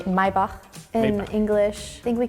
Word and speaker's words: Maybach: In Spain, we say Maybach, but I b my bach. They say my bach, bro. That's how you say.